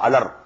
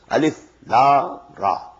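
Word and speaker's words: الر: These are pronounced separately, and so they are the broken into pieces. Not pronounced as Alif Lam Mim Alam, no. Alif Lam Mim. Alif Lam Ra Alar, no.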